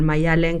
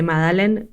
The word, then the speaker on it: Maddalen: el nombre de Maya, porque al final Mayalen con 2 Ds es complicado, digamos, de entender la pronunciación, ¿no? Y tampoco tengo problema en la gente que dice Madalen, pero bueno, ya que es Mayalen, sonoramente quedaba mejor.